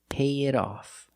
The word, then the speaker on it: pay it off: Now, the T in it is between vowels. So, we change it to a fast D, and we say pay it off.